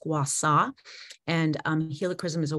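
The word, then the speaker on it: gua sha: and for those of you not familiar with gwasa it's basically um i use it as a facial massage technique using a small jade stone it's spelled g-u-a-s-h-a by pronounced guassaw and um helichrysum is a wonderful addition to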